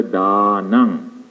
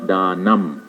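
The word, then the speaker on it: dānaṃ: When you put the dot under the M, you pronounce this as NG. And this is the phonetic symbol. That means you pronounce as Sabba Dhanang. Not Dhanam, Dhanang.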